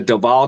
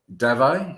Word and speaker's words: Davao: And even I haven't been to Davao.